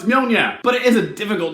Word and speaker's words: Mjolnir: He's always going meow meow. I was like, no, it's Mjolnir.